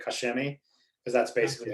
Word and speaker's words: Koch Chemie: it correct yeah so technically the proper way is caulk and then shemi but they miss the in the middle so it's just i always say kashimi because that's basically how